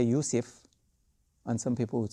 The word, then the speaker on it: Yusuf: Yusufu ayyuha as-siddiq. So it has dhamma, right? But Joseph might have affected our pronunciation in Arabic when we think Yusuf.